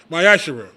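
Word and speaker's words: מעשר: 10th in the Hebrew and it's pronounced myash 10% of any Penny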